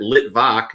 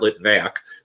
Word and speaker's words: Litvak: we got on yesterday you're here at lit voc not lit vac little larry said now